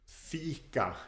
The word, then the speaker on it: fika: um well but that that e sound in FICA is sometimes pronounced differently in stock common sometimes in Gothenburg we had what we call we have what we call the leading where the the e sound is made with a different part of the tongue